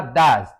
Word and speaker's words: does: en la tercera persona do do más e s y se pronuncia does does he study english